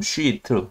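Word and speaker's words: sheet: 2차 구조, secondary structure는 2차 구조에서 크게 아실 게 알파 헬릭스하고 베타 쉬트, 발음을 길게 장모음 쉬트 두 개가 있는데요.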